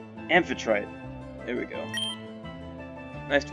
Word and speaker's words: Amphitrite: How is it pronounced? Amphitrite.